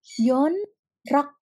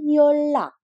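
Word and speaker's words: 연락: Yon rak CH tetapi bacanya bukan yonrak tetapi bacanya yolakcoo loh saya k yak karena Bim bertemu dengan R sehingga bukan menjadi yonrak tetapi menjadi yolak jadi bimionnya ini berubah menjadi l jadi yolako yolako artinya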